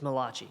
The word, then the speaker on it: Malachi: It's Malachi, just to clarify. That's how you pronounce it.